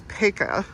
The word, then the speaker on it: Paca: a slideshow kind of thing, but apparently it's Peka, and unless you're from Baltimore, and then it's pronounced Paca.